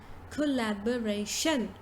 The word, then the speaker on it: collaboration: We say the correct pronunciation to this word is collaboration. So you say first collab, collab, ray, shun.